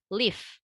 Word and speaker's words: live: Jadi untuk yang untuk live yang daun itu pronunciation-nya tidak tebal. Cara kita mengucapkan F-nya itu tidak tebal ya. Jadi live gitu aja. Gigi atas kita tuh ada di bibir bawah kita, tapi tidak dikeluarkan getaran. Jadi artinya kita nggak perlu effort kayak ngasih getaran gitu atau ngasih angin ya pada kata F-nya. Cukup sampai live, that's it.